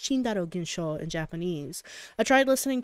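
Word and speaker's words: チンダル現象: physics ikitaru was talking about the Tyndall effect pronounced chindarogenshaw in Japanese I tried listening to it again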